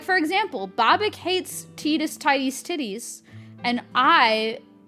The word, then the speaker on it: Tidus: The way that I view Tidus's name is that everyone is in like this big divide over how to pronounce Tidus's name. And it's like, it's Tidus.